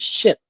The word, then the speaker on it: ship: pronunciation right the clarity because say you want to pronounce the word ship versus sheep, right? So ship and sheep. It almost sounds the same to English learners, but you want to